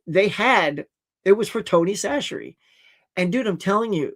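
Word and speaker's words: Tony Chachere's: And by the way, that is pronounced Tony Sasherie.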